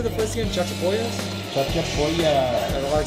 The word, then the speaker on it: Chachapoyas: Chachapoyas?